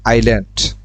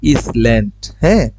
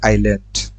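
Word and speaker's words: island: রয়েছে খালি তারপর দেখেন আইল্যান্ড এখানের মধ্যে খেয়াল করি শব্দটা হচ্ছে আই এস হওয়ার কথা ইসল্যান্ড এটার উচ্চারণ হয় হচ্ছে আইল্যান্ড আইল্যান্ড শব্দের অর্থ হচ্ছে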